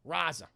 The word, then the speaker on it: Raza: Raza.